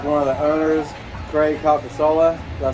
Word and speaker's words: Calcasola: I'm with one of the owners, Craig Calcasola.